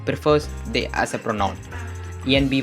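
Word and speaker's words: enby: they as a pronoun Envy is a phonotic pronunciation of ENB it stands for non-binary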